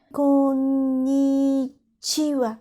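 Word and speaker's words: こんにちは: Tu mets un accent sur ko et pas chi. Konnichiwa. Konnichiwa. Si tu veux dire plus naturellement, tu peux moins prononcer ni. À la limite, après comme, tu dis i dans ta bouche sans trop sortir la voix. Comme, et tu ajoutes chiwa.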